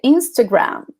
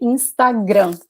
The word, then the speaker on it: Instagram: this okay instagram instagram that's how we say we don't say instagram we say instagram like the emphasis in the last syllable oh jeff is saying